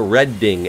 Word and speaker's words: Reading: guess I don't know monopoly was the correct pronunciation of Reading Railroad do a reading I just read it as reading because of habit the credit way to pronounce the name of railroad is a red ding as in Reading Pennsylvania but it's funny it